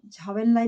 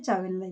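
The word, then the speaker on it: Zhou Enlai: Pronunciation में झावेनलाई भी बोला जाता है, चावेनलाई भी बोला जाता है।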